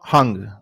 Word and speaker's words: Hung: from chinese origins and it's pronounced without the you know the h but it's just that's